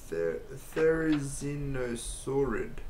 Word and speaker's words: Therizinosaurus: Wow, how the fuck do you pronounce that? Therizinosaurus.